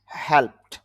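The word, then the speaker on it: helped: তারপর হেল্প, হেল্প থেকে হেল্পড, লাভ থেকে লাভড, পাবলিশ থেকে পাবলিশড, গেল। প্র্যাকটিস থেকে প্র্যাকটিসড, এরকম উচ্চারণ হবে। অনেকে এগুলো আবার ড উচ্চারণ করে, এটা ড উচ্চারণ হবে না, এগুলো ট উচ্চারণ হবে।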